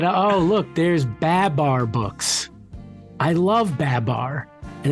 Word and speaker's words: Babar: And I'm like, I wanted to be like, it's not Babar, it's Babar.